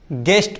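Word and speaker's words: guest: गेस्ट पढ़ेंगे।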